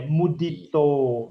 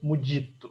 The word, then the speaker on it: Mudito: É mudito, não é mudito.